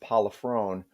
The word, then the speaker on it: Pollifrone: So the last name is pronounced Pollifrone, but because no one ever gets it right, I just say Provolone.